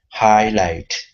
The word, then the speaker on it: highlight: together typically in English when you have a g and an H together they are not pronounced sometimes they are but